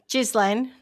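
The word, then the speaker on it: Ghislaine: Was it you funny saying now we all know how to pronounce her name? Jizlane. Jislane Jislane.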